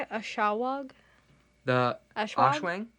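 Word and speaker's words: Aswang: Ashawag? The Ashwang? Ashwang.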